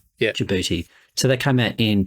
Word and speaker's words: Djibouti: Just pronounced Djibouti. Yeah. Djibouti.